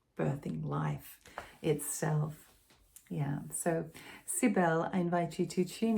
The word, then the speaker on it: Cybele: I was pronouncing it Cybele at the beginning because of my French influence. And then a Greek friend shared her pronunciation, and there's just so many pronunciations. I'm settling on Cybele.